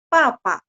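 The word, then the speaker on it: 爸爸: Kalau bahasa Mandarin Pinyin papa, kita bacanya PA ya, bunyinya PA. Tapi ketika tulis Pinyin adalah BA ya. BA. Terus nada 4. Papa seperti itu. Jadi nanti kalau misal ketemu buku pelajaran BA bacanya apa? Papa. Bacanya jadi P.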